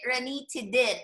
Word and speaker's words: ranitidine: Zantac, generic ranitidine. Again, we pronounce it as tidine, not dine, okay? I know we pronounce I-N-E as ine, American way, American English, but for drugs, we do ranitidine, okay?